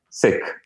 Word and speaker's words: Sikh: But Sikh is a religion. It's actually not even pronounced Sikh, and I've kind of now got accustomed to pronouncing it Sikh. But it's how do you pronounce it? Sikh.